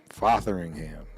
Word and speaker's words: Fotheringham: Mr Cole fathering ham fathering ham is how you pronounce it I guess fing ham yeah uh